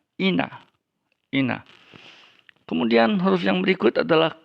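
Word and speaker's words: ἵνα: Jadi kalau menulis ina kemudian disuruh minta transliterasi, kita tulis H-nya di depan I ya. Walaupun itu tidak lagi diucapkan, tidak lagi dibaca. Jadi transliterasinya hina, tapi membacanya ina.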